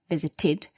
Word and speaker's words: visited: we've had visited where we have the t the dental consonant meaning we must pronounce id visited we've had appeared with